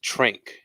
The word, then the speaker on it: tranq: called Uh the the nickname for it is Tran wow Tran and it's spelled TR r a n q and it's